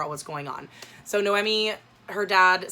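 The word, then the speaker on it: Noemí: atmospheric so this i looked up how to pronounce her name it's noemi i always i was pronouncing my head nomi but it's no emmy so this is a story about noemi she lives in mexico city she is kind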